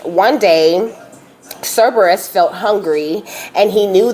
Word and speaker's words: Cerberus: also okay it says cereus s s wait Cerberus okay that's how you say it Cerberus was